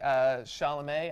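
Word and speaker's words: Chalamet: yet but I know Timothy sha'lame I think it's pronounced has been getting a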